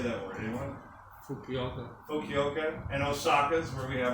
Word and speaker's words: Fukuoka: Fukaru? How do you say that word? Anyone? Fukuoka.